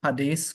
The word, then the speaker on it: Hades: since Hades is the place for the dead Hades correct pronunciation since Hades is is the place of